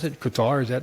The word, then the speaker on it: Qatar: Qatar? Is that how you pronounce it? Kind of like Guitar. Qatar, Qatar. Tartar, Guitar, like the Tar stuff, baby.